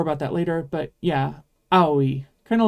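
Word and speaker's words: あおい: We'll talk more about that later, but yeah, aoi. Kind of like I have an aoi. But in this case, make sure you're pronouncing every letter.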